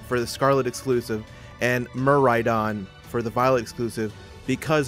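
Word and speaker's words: Miraidon: And for the Scarlet exclusive, and Muraidon for the Violet exclusive, because there's going to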